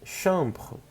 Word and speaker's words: chambre: Quarto, dizemos chambre ou chambre, é a mesma pronúncia no plural. Tá? A gente só escreve mais um S, mas a gente não o fala.